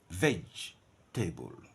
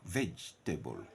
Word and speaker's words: vegetable: isolate the rest would say very V veg table three ftic syllable veg table this one would say